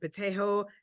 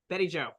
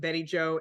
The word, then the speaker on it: Betty Joe: is in memory of bjo in Delicato uh protector of Palestinians Betty Joe sorry I was pronouncing that wrong so let me just say that again in memory of Betty Joe in Delicato protector of